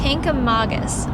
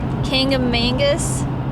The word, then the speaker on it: Kancamagus: this highway and it's kink of magas is how it's pronounced with an emphasis on the MA right okay come August